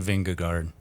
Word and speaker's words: Vingegaard: But Johan yesterday said, I'm just saying Vingegaard.